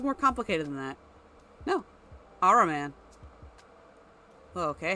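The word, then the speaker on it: Ahriman: See if I can pronounce it. Araman. That's it? I thought that was more complicated than that. No. Araman.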